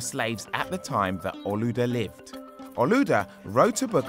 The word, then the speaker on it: Olaudah: In Nigeria, where he came from, they pronounce his name Olaudah. Olaudah spent many years of his life as a slave.